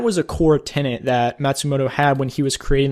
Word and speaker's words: Matsumoto: his first name, but I believe the last name is Matsumoto. That's how you pronounce that.